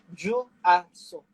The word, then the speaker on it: Juaso: The name given to me by my parents it is Juaso. Juaso. So Juaso.